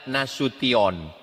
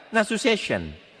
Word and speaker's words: Nasution: Cara membacanya nasution. Ada pula pembawa acara yang baca nasu session mas.